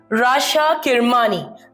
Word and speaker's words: Rasha Kirmani: Rasha Kirmani. I hope I pronounced that right this time, babe. You did.